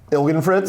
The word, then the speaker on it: Ilgenfritz: Did I pronounce it right? Ilgenfritz? Yeah, you did. That's correct.